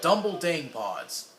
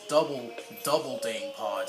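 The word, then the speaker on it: Dumbledang Pods: And these are Dumble Dang Pods. Sometimes I used to pronounce these as double Dang Pods.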